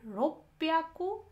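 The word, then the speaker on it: 六百: तो यहाँ हम देख रहे हैं 300, 600 और 800 में प्रोनाउंसिएशन हम जब बोलते हैं ह्याकू के बदला यहाँ ब्याकू हो जाता है, यहाँ 600 में प्याकू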